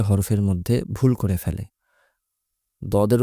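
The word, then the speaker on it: ض: দর মত খুব স্বাভাবিকভাবে দদ উচ্চারণ করতে হবে দর মতই কিন্তু একটু গলার গভীরে যেমন সিন এবং সদের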